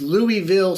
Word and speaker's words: Louisville: campbellsville wrong it's it's it's louisville slugger the town it's louis ville uh but so and but they're like no it's louisville's anyway we're gonna go